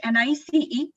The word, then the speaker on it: Nice: It's spelled out as NICE, whereas it's pronounced as Nice because it's a French word, and Nice is a place in France where the agreement was signed, and so it is known as the Nice classification.